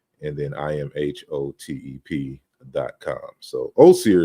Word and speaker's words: Asar: So Osir is really how you would say it, the name in a modern African language. So it's the correct way. But when I adopted Asar, that's how it was being pronounced in the early 2000s. So I'm not mad at it. So I go by both. You can say Osir or Asar.